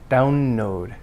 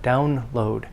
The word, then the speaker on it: download: not down node but download the l must be pronounced distinctly and clearly and of course means stress on the first part because it's a compound download down load so